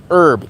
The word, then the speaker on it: herb: the word herb herb the H is silent herb e RB that's how